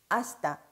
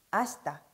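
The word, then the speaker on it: 明日: 아시다, 아시다.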